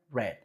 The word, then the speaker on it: read: Entonces te empiezas a acordar, ok, read se escribe igual, pero cuando va en pasado se pronuncia read.